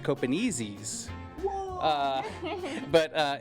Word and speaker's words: Copenaezis: Copenazis. Well, um it's actually pronounced copenezies.